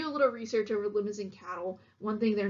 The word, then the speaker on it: Limousin: lemons in cattle and and is pronounced just like that lemons in not like limousine the car and these are originated